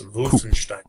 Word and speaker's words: Wolfenstein: wolfenstein wolfenstein wolfenstein there there is no w sound it's wolfenstein everybody forgets the stein stein the stein is also important but the wolf the wolf is key wolfenstein is good but just